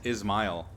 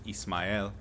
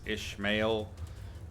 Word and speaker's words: Ismail: it was like always ishmael lots of ishmaels which i guess is fair moby dick and all but there's no h in my name so yeah it is